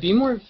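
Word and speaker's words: Behmor: It's pronounced B-more, which is the weirdest thing in the world.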